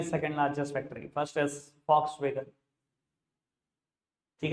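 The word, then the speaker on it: Volkswagen: ठीक है जी सर, लिखते हैं वॉक्सवैगन, बोलते नहीं है। एड सुन लेना, चाहे कान लगा के सुन लेना, वो बोलते हैं फॉक्सवैगन। जर्मन कंपनी है, जर्मन में वी को एफ प्रोनाउंस करते हैं, फॉक्सवैगन।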